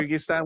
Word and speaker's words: Kyrgyzstan: he sold it to a company based in Kyrgyzstan. I think that's how you say it. Yeah. Yep. Kyrgyzstan, which is very close to Russia, and from